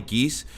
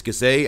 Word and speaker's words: Gazay: Some and some people they may actually pronounce it as Barney Geese, but it's Gazay. I call it Geese, but it is Gazay. I apologize for that.